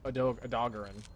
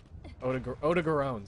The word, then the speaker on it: Odogaron: No, Evil Dog is Ebony Adogarin. Odogarone, sorry.